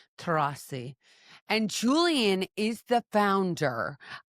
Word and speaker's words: Tcherassi: Tcherassi, yes, that's right. Tcherassi.